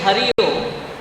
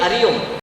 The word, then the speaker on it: Hari Om: each other, we say Hari Om. Please pronounce that H properly. You cannot end up saying Ari Om. It has to be Hari Om.